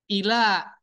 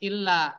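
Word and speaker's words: إلى: itu harus dibaca berikutnya Ila Ila ini hati-hati jangan sampai ada syidahnya Jadi bukan illa tapi Ila Ila ya liilafi sering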